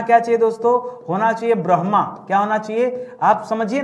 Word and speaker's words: ब्रह्मा: चाहिए दोस्तों होना चाहिए ब्रह्मा क्या होना चाहिए आप समझिए ना आप बोल क्या रहे हैं आपको ब्र के बाद म का उच्चारण नहीं करना आपको ब्र के बाद ह का उच्चारण करना है तो आप बताइए क्या